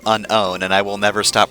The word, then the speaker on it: Unown: No, not the unknown. There's no K there. These are the Unown.